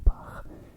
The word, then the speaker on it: Bach: Johann Sebastian Bach. He was German, I'm also German, so that's the proper way to pronounce his name.